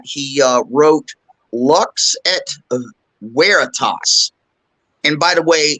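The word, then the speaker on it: veritas: uh wrote Lux at weitas and by the way it is pronounced with a W not a v uh and that translates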